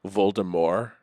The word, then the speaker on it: Voldemort: to be the tea wasn't supposed supposed to be pronounced it was supposed to be like French like voldemor and when they made